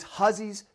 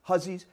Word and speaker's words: Hussey: Where you will find the three-story colossus that is Hussey's General Store. I know it looks like Hussey. He was a German immigrant, pronounced it Hussey.